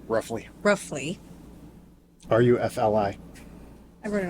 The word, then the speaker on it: Rufli: Matt, how do you pronounce? Roughly.